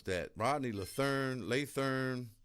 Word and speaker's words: Lathern: My man Rodney, how do you pronounce that? Rodney Lethern Learn.